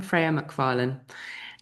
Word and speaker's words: Freya McFarland: I don't want to pronounce it wrongly. So who is Freya? Well, I'm Freya McFarland and I'm a tantric intimacy coach and uh